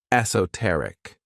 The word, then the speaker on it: esoteric: This word has four syllables and the stress is on that third syllable, esoteric.